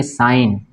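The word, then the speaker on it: sign: उसी तरह इसको पढ़ेंगे साइन, ठीक है ना, क्या पढ़ेंगे इसको, साइन, जी साइलेंट हो जाएगा, साइन। उसी तरह आप यहाँ पे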